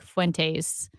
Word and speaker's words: Fuentes: Nick Fuentes.